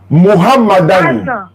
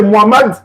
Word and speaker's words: Mohammad: Anne Mohammadan Mohammadan Mohamad. Tu peux pas citer le nom de Mohamado. Mohamad. Voilà. Mais comme la bonne prononciation, on dit Mohammad Mohammad, j'atteste avec ma langue.